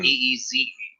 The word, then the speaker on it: Brees: He is Drew Brees. He plays quarterback. He wears number 9. Of course. But it is spelled like the wind. Breeze.